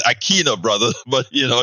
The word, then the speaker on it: Aquino: my brother Neil Aquino I usually get it wrong I get it wrong so you know aquina forgive me Aquino you know oh I I have soy Latino so in Spanish it's Aquino brother but you know